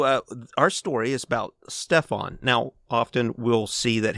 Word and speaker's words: Stefan: ways but it's really stuff i'm saying it's spelled with an f it is stefan it is his real name he's polish it's